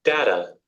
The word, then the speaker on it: data: டேட்டான்னு டாவை உச்சரிக்கிறாங்க, இங்க ஸ்மூத்தா போகுது பாருங்க. Data. Data. பட் டோட்டலா டிஃபரெண்டா டாட்டா பாருங்க. Daughter. Daughter. டாட்டா. Daughter. Data.